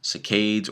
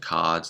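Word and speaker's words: saccade: call catic movement so there are um Cades or cads depending on how you like to pronounce things these are the rapid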